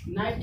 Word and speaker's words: knight: यहाँ पे के आया, के बाद एन आया है, और एन के बाद एक वोवेल्स आया, तो क्या हो जाएगा हमारा साइलेंट। ठीक, नाइट इसमें क्या है, KNIGHT, नाइट, नाइट मीन्स योद्धा या शूरवीर।